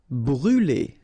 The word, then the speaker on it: brûler: Brûler. Alright, so remember to write this circumflex on the top of U, but then you don't pronounce it, so phonetically it doesn't exist, and it's brûler.